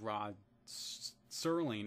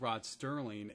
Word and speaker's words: Rod Serling: And also my pronunciation of Rod Serling as Rod Sterling, and I have, but